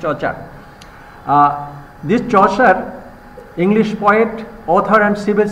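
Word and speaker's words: Chaucer: and reading will be এপ্রোপ্রিয়েট will be comparing চর্চার চর্চার you know English poet yeah Geoffrey চর্চার Geoffrey চার চার চার প্রোনাউন্সিয়েশন চার this চসার English poet author and civil servant this চসার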